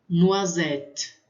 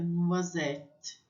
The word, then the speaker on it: noisette: Quando tem o S no final, eu não pronuncio, mas ele vai dar um som para o E. Porque normalmente o E fica no final, a gente quase que não pronuncia. Mas aqui ele fica um pouco mais presente, então fica noisette.